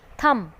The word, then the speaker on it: thumb: second one is thumb. हम इसे pronounce थम ही करेंगे बट इसकी स्पेलिंग रॉन्ग होगी जब तक हम इसमें B ऐड नहीं करेंगे.